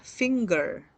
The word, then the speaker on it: finger: Kurang tepat ya, karena finger itu dibacanya adalah finger. Sekali lagi ya, finger. Pakai g, R-nya kecil.